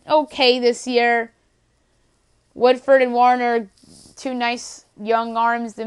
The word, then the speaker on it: Warner: Louis Cardinals for Jake Woodford and Austin Warmer, my bad. Mispronounced that name. So the Marlins get rid of an asset that's been okay this year. Woodford and Warner, two nice young arms that maybe one of